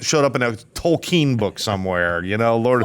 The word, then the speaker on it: Tolkien: showed up in a Tolkien book somewhere. You know, Lord of the Rings. Tolkien. It's not, it's What's his Tolkien. name? Tolkien. No, you Tolkien. don't say it like Ian. That's so weird.